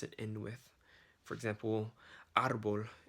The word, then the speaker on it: árbol: For example, árbol in Spanish would be like the stress is at the front of the word.